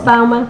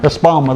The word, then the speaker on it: Espoma: Espoma. Espoma, there you go.